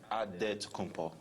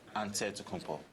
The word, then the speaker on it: Antetokounmpo: with a D, so it's Antetokounmpo. But in the Greek way, you say with the NT, like Antetokounmpo.